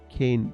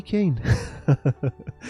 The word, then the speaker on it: Kane: me more pain because your name is synonymous not synonymous but you know rhyming with pain cane pain can you can